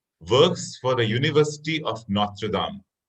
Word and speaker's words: Notre Dame: So my second question here is, David Gura works for the University of Notre Dame. The pronunciation is Notre Dame. It's a French university, Notre Dame.